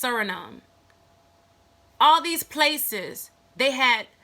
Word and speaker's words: Suriname: Brazil Colombia Ecuador French Guiana I think it's pronounced Suriname all these places they had indigenous Mellon any